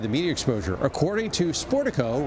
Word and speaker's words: Sportico: media exposure according to sportico rhymes with Portico uh the singer's presence